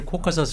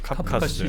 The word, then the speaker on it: 카프카스: 백인종 그랬을때 코카사이드 그러는데 근데 지금은 카프카스라고 해서 혹시 원래 발음을 많이 쓰고 있습니다. 카프카스 지역입니다.